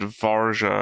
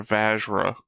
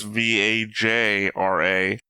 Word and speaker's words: Vajra: You said Varja, and I believe they're Vajra. Vajra. Mispronunciation. Right. But if you keep doing it, I'm going to start saying it wrong. So we need to clarify real quick. I'm pretty sure I'm right, and it's Vajra and not Varja.